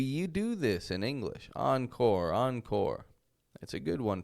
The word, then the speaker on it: encore: We're not using that kind of an R. We're using an English R. Encore. And so we take the French first half, but an American second half.